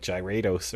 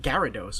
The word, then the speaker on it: Gyarados: i think i had friends who said like gyrados or some i never heard anyone say gyrados we watched the anime they always pronounced it gyarados without the wall there was a lot of